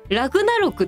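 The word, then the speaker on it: 終焉戦争: 、うん、この終焉戦争がラグナロクって読む、あんなはラグナロクって読んでるんですけ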